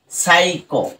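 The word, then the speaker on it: psycho: যার কারণেই কিন্তু দেখো এখানে পি এস ওয়াই সি এইচ ও, সাইকো, right? সাইকো, পিটা সাইলেন্ট রয়েছে।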